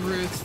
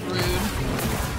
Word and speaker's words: Ruth: I'm I'm cool I'm I'm Ruth actually not rude that's horrible mispronunciation of my name rude not even spelled that way spelled Ruth with a th bunch of chickens up